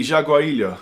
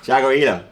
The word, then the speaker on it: Jaguarillo: the Jag gillo 2 how would you pronounce that if you were Mexican I think it would be jaguaro jaguaro yeah jaguaro but you Papo cuz apparently